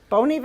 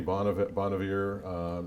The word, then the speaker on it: Bon Iver: Bon Iver, as I pronounce that correctly? That sounds good. I say Bon Iver.